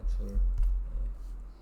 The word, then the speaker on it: 줄: 단위를 쓰시요 요렇게 하고 줄이라고 읽는 거예요 줄 몇 줄 이렇게 얘기합니다 줄이라는 원래 사람이 있었어요 둘 사람 그 사람 이름인데 이런 거 연구한 사람입니다